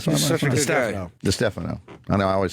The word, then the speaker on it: DiStefano: Is it the Stefano? Wait, DiStefano. Because of Mike D. Yeah, that's what I'm saying. I I always always mess it up. DiStefano. It is the Stefano, Yes.